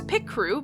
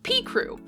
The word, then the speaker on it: Picrew: Last thing before I dive into this video proper, yes, I say it, pie crew. I know that it would make more sense if it was pic crew because pic like picture and I know that